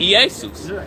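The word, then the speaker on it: Ἰησοῦς: You can take it even a step uh further with the Greek because they they they pronounce the eas. They said easus.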